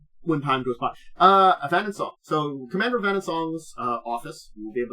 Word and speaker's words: Avanswell: it, and I've got to remember how I pronounced it. Avanswell. Avanswell. That's what it was. It was Avanswell.